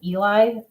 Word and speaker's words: Ely: And when you finally get to, I think it's Eli, Ely is how it's spelled, Nevada, at the far